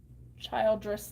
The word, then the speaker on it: Childress: Childress like children.